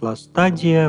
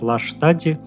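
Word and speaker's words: Lastadie: Впрочем, как только его сегодня не называют: Ластадия, Ластадие... Но по-немецки это будет все же Ластади с долгим "и" на конце. Возможен вариант: "лаштади", так как ST в корне читается как "Ш".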